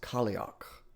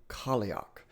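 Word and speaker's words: Cailleach: So that is pronounced Kioch. Kioch.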